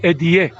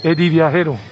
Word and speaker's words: viajero: don't pronounce it well they would say edie it's not idea it's eddie eddie and means traveler and